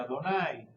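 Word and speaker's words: Adonai: de otra por ejemplo el nombre de Dios en hebreo no se pronuncia se pronuncia adonay eh los nombres que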